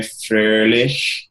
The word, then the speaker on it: Froehlich: June 8th, 2015, and I'm excited to welcome our special guest, Jason Froehlich. And I say his name like the original German way, Froehlich.